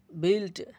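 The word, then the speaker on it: built: ইউ আই এর উচ্চারণ হয়ে গেল ই, গিল্টি গিল্টি। গিল্ট দোষ, বিল্ট বিল্ট নির্মাণ করা।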